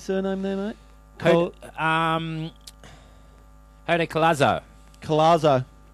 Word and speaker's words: Collazo: Collazo. There's no R there.